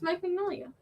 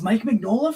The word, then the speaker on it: Mike Mignola: can't pronounce his name it's mike magnolia that's mike mignola for reals isn't it